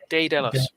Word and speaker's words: Daedalus: I don't know why, but so think DAE would be pronounced day. Daedalus.